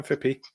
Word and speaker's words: Fippy: Do I pronounce that correctly? Yeah, Fippy.